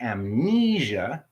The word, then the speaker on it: amnesia: autumn just the m but any time the word the letters m and n are in a word and there's other letters preceding the n like amnesia you actually pronounce the m and the n and the last rule